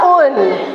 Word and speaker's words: Oen: ada gedung Apa itu toko tulisannya Oen tapi dibacanya toko UN nah toko UN Ini adalah sebuah restoran